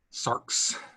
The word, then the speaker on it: sarx: it's d d um here's a word that has an x at the end of it sarx s a r x sarks um and patricia was